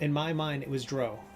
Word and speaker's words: drow: my mind it was drow it was like it rhymed with Crow not cow like a crow is